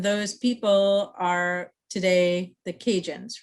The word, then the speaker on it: Cajun: the kajan the cajuns the word cajun is actually the word acadian just pronounced differently right um so a